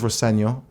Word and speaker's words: Rosenior: My dad says Roseno, which is it is the way to pronounce it, but as long as it's nice.